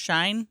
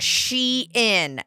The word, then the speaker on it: Shein: same time okay so shine so it is pronounced shine I guess shine fashion lovers fashion lovers discover